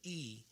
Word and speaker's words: y: The Y is pronounced as E, and that represents and, like A and D.